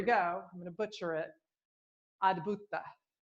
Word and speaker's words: Adbhuta: Adbhuta, and it's spelled A-D, like ad, like advertising, and then Bhuta, B-H-U-T-A, and it means wonder, and it's connected to the element of air, right?